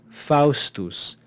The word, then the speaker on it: Faustus: as one consonant sound we have Faustus Faustus we have a diphthong you need to be able to identify the diphthongs notice how they're kept together in one syllable so we have two vowels but we don't divide the syllable between these two vowels because this is a special pair this is a diphthong it's just one syllable then we've got two